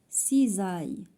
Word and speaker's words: cisailles: Des cisailles. Cisailles عاوتاني عندنا s entre deux voyelles, elle se prononce z.